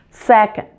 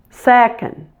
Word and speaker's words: second: of the word second the O in the last part is weak so don't pronounce it fully and it might even